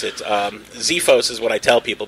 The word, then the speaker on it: Xefos: exorcists there's actually a couple different ways to pronounce it Xiphos is what I tell people because it's like Xerox you know just it's kind of